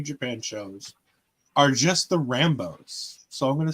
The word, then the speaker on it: Rambo: shows are just the Rambos. So I'm going to say the first one. I think it was. I think you said Rando, and I think it's supposed to be Rambo.